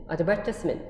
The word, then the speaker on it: advertisement: 영국식의 발음 어때요? advertisement.